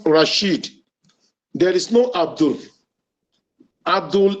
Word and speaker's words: Rashid: There is no Abdul in Rashid. The name is pronounced Rashid.